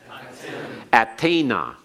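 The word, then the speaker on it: אַתֶּן: Let's pronounce these again. Attem. Attena.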